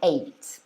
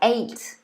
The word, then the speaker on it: ate: preposition at um because it's got the a sound yeah so you can say i ate but in the second version it's e so it's like the e of egg for example you say e so i ate i ate okay so you could say um either of them they're both perfectly fine so that might